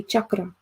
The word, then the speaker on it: chakra: Okay, so like how, yes, about how do you say like cello or chavata? Okay, that's how you say chakra.